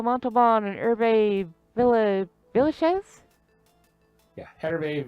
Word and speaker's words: Hervé: Yeah, Hervé Villages. Villachez. I knew it was Hervé. I couldn't remember. Hervé or... I think the H is silent, but I knew it was Villa something.